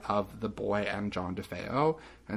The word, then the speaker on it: DeFeo: the murdered child john how do you say the last name dave defeo defeo i was gonna say defoe um who lived in